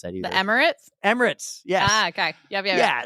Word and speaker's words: Emirates: I can't pronounce that either. The Emirates? Emirates, yes.